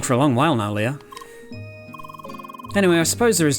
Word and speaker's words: Lea: time playing it calling her Lee because I mean that's just how I read it but um yeah I guess officially it's Leah because it's a German Dev team and that's how they would pronounce it okay what am I